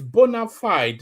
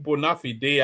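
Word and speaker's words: bona fide: And by the way, not to be too pedantic of finikity is bonafide, not bonafide day.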